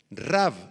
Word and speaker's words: Rav: Rav, R-A-V grande, con acento en la A.